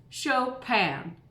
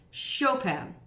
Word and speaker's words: Chopin: pen so think of the word show like you're watching a show on TV and a pan that you cook with show pan can you stay with me Chopin now say it a one syllable or one phrase Chopin Chopin that's how he said